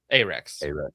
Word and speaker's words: Arex: So the P10C optics ready reportedly beat out competition from Glock and Slovenia's A Do you pronounce it Arex or ARX? Yes. Arex, right? Like Arab and Arex.